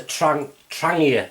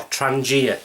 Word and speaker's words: Trangia: The second one is a Trangia or Trangia, dependent how you say it.